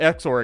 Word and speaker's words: XOR: It's pronounced XOR, exclusive OR. Exclusive OR. It is a bitwise operation.